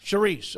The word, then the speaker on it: Chriss: Charisse.